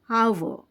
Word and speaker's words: hour: So, THE is followed by A, E, I, O, and here H is silent. So, we will pronounce as hour, hour.